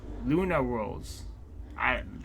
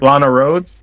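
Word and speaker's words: Lana Rhoades: But we got Luna Rose. Is that how you say it? How you say the art? Lana Rhodes?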